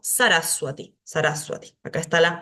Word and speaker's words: Sarasvati: ejemplo Claro no digo sarasvati sino que digo saraswati esa sería la pronunciación correcta acá tenemos esto ejemplificado la va después de una consonante se pronuncia como u cuando inicia la la